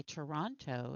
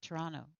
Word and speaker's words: Toronto: You can tell if somebody's from Toronto by the way they say Toronto instead of Toronto. A Tirana. I Yeah, love the way Tirana. I love the way they miss the last T.